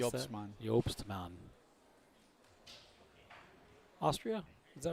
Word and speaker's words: Jobman: Sullivan and and Hannah Buffkin versus McDonald and Jobman. Jobman. You want to pronounce? Yopsman.